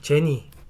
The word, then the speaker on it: GENI: 보시는 바와 같이 종목 코드는 GENI 이며 , " 지니 " 라고 발음 하시면 됩니다 .